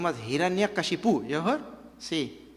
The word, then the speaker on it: Hiranyakashipu: yuga, his name was Hiranyakashipu. You heard? See, He, Ran, Ya, Ka, Shi, Pu. What a long name. 6 syllables are there.